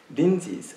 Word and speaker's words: Rinzai: It says, Rinzai's, I'm just pronounce his name as Japanese, Rinzai's blind ass.